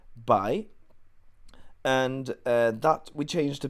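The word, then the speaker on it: 白: The right part is pronounced by.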